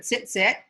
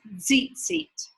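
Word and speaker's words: ציצית: And this word, depending on if you say it like my, like my husband does, who speaks more Yiddish than Hebrew, it's either zit zit, or if you say it like an Israeli does, it's zit zit.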